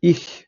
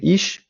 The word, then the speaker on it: ich: варіантів наприклад звук х правильно казати іх не іщ як багато хто звик це діалект можна так сказати Південної Німеччини і зіх також буде таке